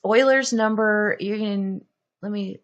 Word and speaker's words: Euler's: number I know it looks like it says Euler's that it is pronounced Euler's usually um but look this up it's cool